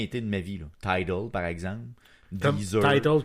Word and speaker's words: Tidal: Tidal, par exemple.